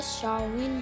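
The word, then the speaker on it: Samhain: मूलतः यह एक सेल्टिक त्यौहार है जिसे शाओविन भी कहा जाता है। यह वर्ड प्रोनाउंसिएशन में कुछ और लिखने में कुछ और होता है।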